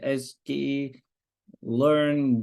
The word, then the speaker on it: scikit-learn: gonna do is from scikit-learn which is s key learn dot uh in in symbol yeah that is the right pronunciation import foreign random Forest